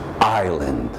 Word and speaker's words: island: pronunciation of the words island island island there's no s there's no s I mean there is an S in the spelling but in the pronunciation I Linda the islands